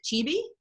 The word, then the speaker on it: Chibi: So now I want to make sure I get the name, the spell, the pronunciation of your dog's name. Is it Chibi? Yes, it's Chibi.